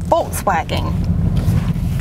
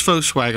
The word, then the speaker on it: Volkswagen: He needs to know that he is mispronouncing the word Volkswagen. You're going to love your experience at Stokes Volkswagen. I guarantee it. Come see us today at Stokes Foswagon on Ashley Phosphate or StokesVub.comace at Stokes VDub.